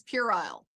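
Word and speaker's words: puerile: Perhaps it is an English thing with the pronunciation, but she said quarrel. I think she maybe just doesn't know how to pronounce it. It was like a Candace Owens thing where she's perhaps read the word but not heard it. It's purile. Ellis, it's purile.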